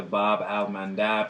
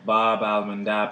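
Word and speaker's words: Bab-el-Mandeb: Landmark land mass likely did so across the Bob almandab straight and that's spelled b-a-b Dash Al Dash m-a-n-d-a-b so that's the Bob almond Dobb straight separating present-day Yemen from Djibouti so that's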